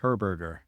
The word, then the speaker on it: Herberger: My last name is pronounced Herberger. Herberger. Okay, maybe I can remember that. Herberger. That's pretty simple. It's pretty Yeah, easy. yeah, it's pretty Um, close to hamburger.